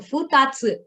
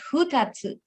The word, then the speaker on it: futatsu: So futatsu. So even though this is fu, we pronounce it as fu. Okay, futatsu, not hutatsu.